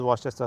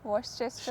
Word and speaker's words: Worcestershire: is Worcester sauce. Oh, that is what? How do you pronounce it? Worcester Worcestershire.